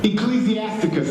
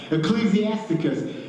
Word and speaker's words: Ecclesiasticus: So if you've got a friend of yours that's reading, I can never pronounce that word. Ecclesiasticus. Thank you, Erica. You can see I need help. Ecclesiasticus.